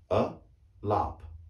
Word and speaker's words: Alap: you have a name the first letter a is a short a as i've been saying before as raj was and so was rajat but the second a is a longer a it's a lop a lop and this one